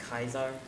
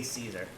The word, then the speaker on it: Caesar: okay by the way it's technically pronounced Kaiser but I say Caesar because I don't respect him they use the big